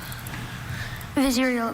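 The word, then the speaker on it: vizier: Visceral.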